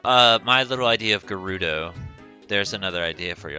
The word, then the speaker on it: Gerudo: it up idea gerudo gerudo you i say it with a hard a hard g like gato so i did expect